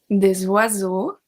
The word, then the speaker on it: oiseaux: So for EAU, we have un oiseau, des oiseaux, un oiseau, des oiseaux. We obviously don't pronounce the X.